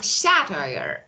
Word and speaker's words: satire: And this one, satire. Satire. So the stress is on first.